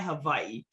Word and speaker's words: Hawaii: I am originally from Waianae, Hawaii. What most people don't realize is the W in Hawaii is actually pronunciated in the Hawaiian language as a V.